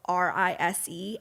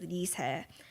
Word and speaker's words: RiSe: about her name is Dee's head but because it's spelled R is e everyone will say her name is rise but it is Lisa and I'm gonna say her name a lot